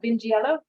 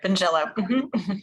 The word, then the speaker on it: Vingiello: to say it wrong binge yellow did I get that right yes you did benjello I've worked with a